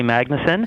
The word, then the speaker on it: Magnesen: i probably messed up both of your name pronunciations well that's no problem whatsoever it's magnussen and uh first of all let me compliment